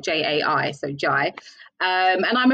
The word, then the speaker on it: Jai: saying it right because loads of people say j and it's not that it's not j-a-i so jai um and i'm a presenter from